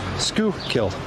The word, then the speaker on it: Schuylkill: Scoo killed master splits.